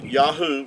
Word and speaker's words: Yahuah: the three letters uh Yahoo would give you the sound um these three letters here the Y the yod Y and the he and the UA would give you Yahoo and even Benjamin netan